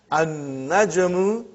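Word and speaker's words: النجم: So how will you pronounce, brother? An-najmu ba'idun. You did not pronounce lam.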